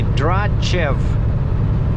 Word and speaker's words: Dratchev: And so actually this TCH in my name, I find that most people, especially educated people, just always say it correctly, you know, they say DRATCHEV.